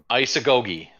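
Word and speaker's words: Isagoge: up and it's not in the dictionary online isagogi is how it's pronounced it's a goldie or isagogi yup and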